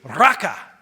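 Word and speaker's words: raqa: Don't even say raka to another person. It's spelled R-A-Q-A.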